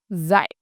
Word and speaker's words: dạy: The verb dạy, to teach, is pronounced dạy.